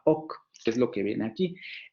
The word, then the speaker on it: oc: ok para decir sí entonces por eso le llamaron lenguas de wii y lenguas de ok porque en el norte la palabra si se pronuncia bagüí y en el sur la palabra así se pronunciaba ok es lo que viene